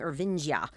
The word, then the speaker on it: Irvingia: So it's Irvingia. That's why we're saying Ervingia.